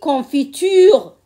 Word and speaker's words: confiture: dans le mot confiture on a confiture sur les syllabes écrites on a quatre syllabes quand je le prononce je dis confiture confiture ça devient trois syllabes seulement sur l'écriture on a 4 syllabes 4 syllabes et sur le oral on a que trois pour le pull-over pull